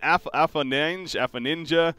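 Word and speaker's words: Afoninje: Dahak, and then Afaninja, apparently is supposed to be pronounced Afanin, and then people just put the J at the end, so we can go Afanin or Afaninja.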